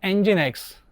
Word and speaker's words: Nginx: software systems and components the next server is engine X it is popular open- Source web server pronounced engine X is renowned for its excellent speed and little